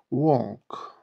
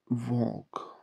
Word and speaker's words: walk: Walk. L harfini biraz yutarak söylüyoruz arkadaşlar. Walk.